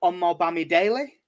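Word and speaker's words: Omobamidele: if i can get his name right andrew on more bammy daily i think he's how he pronounced it is yes you've nailed that one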